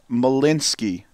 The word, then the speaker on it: Malinsky: Kelsey's last name is pronounced Malinsky. The CH is silent.